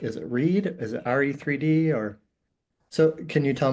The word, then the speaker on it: Re3D: We call it Re3D, RE3D. Okay, yeah, that's what I thought. I was like, is it Reed? Is it RE3D?